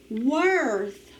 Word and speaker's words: worth: o r m worm remember or can say er when it is with the w in one syllable words number eight worth worth how much is